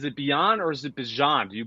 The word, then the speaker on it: Bijan: Is it Beyond or is it Bijan? Do you pronounce the J? I pronounce the J.